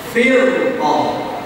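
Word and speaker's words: فِرْقَة: kemudian kaidah yang keempat rnya itu dibaca tebal ketika rnya sukun sebelumnya kasrah setelah ro adalah huruf istiala firqoh firqoh firqoh firqoh firqqosil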